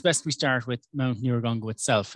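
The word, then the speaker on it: Nyiragongo: i think it's best we start with mount neurogongo itself it's spelled n-y-i-r-a-g-o-n-g-o standing at 3740 meters it's a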